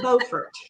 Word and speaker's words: Beaufort: If you take the bridge north from Morehead City, you'll be in Beaufort. Now, I know in South Carolina, you would pronounce that Beaufort. Right. That's the right one. North Carolina, it's Beaufort. Okay? I lived in Beaufort for a while, so that's the right way, Grace.